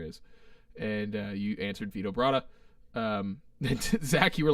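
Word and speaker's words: Vito Bratta: and uh you answered vitobrata um zack you were like it rhymes with vibrato so i but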